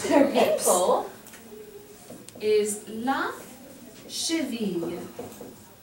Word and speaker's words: cheville: Ankle is la cheville. The double L here is pronounced like a Y. Oui, répétez classe, la cheville.